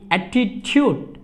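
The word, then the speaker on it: attitude: যেমন এই double T আই টি ইউ ডি ই, অ্যাটিটিউড, অ্যাটিটিউড। এখানে কিন্তু এই টির পরে কিন্তু ইউ রয়েছে বাক্যের মাঝে, তাহলে এখানে এই টি এর উচ্চারণ হবে চর মতো, অ্যাটিটিউড।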